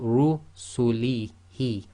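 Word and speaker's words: رسله: So in this case, you've got Ru, it's full mouth again. So you've got Ru sulihi, Ru sulihi.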